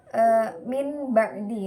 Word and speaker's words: min ba'di: Cara baca iklab di sini yaitu dengan mengganti suara nun sukun atau tanwin kepada mim, tapi tidak menghilangkan bacaan gunnah atau sengungnya di sana. Contoh bacaan min ba'di, nun sukun bertemu dengan ba. Contohnya cara bacanya min ba'di, jadi tetap ada gunnahnya.